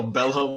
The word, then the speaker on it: Bello: exist horses aren't real bellow makes a peace sign with his hooves and banishes more fortnite no more foot no more horses okay so i believe bello is spelled b-e-l-l-o like italian but uh i won't